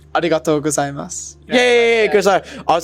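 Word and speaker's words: ありがとうございます: So say when you say thank you very much, that was the tricky one for me because you say arigato gozaimasu. No, it's like arigatou gozaimasu.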